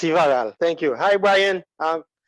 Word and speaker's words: Yvarro: Yvarl, if I'm pronouncing your name right, do you want to chime in too? Yes, sir. It's Ivaral.